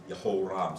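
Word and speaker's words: Jehoram: So all of the J sounds are wrong. Every last one of them. Yep. They're all wrong. I didn't mean to take that much time. Yeah, well, but thank you. I'll tell you, when you look at these, Yehoram, so each J-E would be a very quick sound. And sometimes you learn how to pronounce them in English and read them that way, and then that's the way they go.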